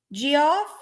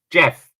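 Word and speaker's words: Geoff: of July yeah weeks GI off I hope I'm saying your name GI off Mitchell thank you for coming in Jeff Jeff is it Jeff yeah okay yes Jeff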